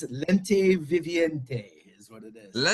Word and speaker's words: Lente Viviente: Their latest album, well, probably below this, Lente Vente is out now.